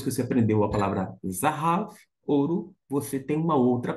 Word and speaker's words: זָהָב: tá só para ter uma ideia zav zav zahav significa ouro depois que você aprendeu a palavra zahav ouro Você tem uma outra palavra você já